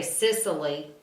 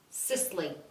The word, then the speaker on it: Sisley: Every time I edit, I hear myself say Sisley, and I don't think it has that many syllables. Sisley.